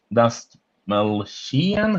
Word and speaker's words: Dastmalchian: David David Dastmalchian, who seems to be in It's the every small chin, as he likes to say. That's how it's pronounced.